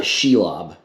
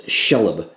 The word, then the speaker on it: Shelob: think this is pronounced it is not sheilob it's shelob child of ungoliant you